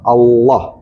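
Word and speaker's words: الله: Jadi ketika membaca Allah itu harus bulat, harus tebal. Allah bukan bukan Allah.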